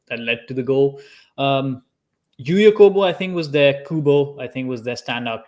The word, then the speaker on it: Yuya Kubo: And then lastly, Yuya Kubo, and I did say it right that time, Yuya Kubo was really good at left wing back.